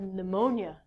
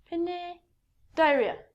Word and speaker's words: pneumonia: but i actually had pneumonia i couldn't say this word when i was a child i looked at it when pine diaria i remember i was six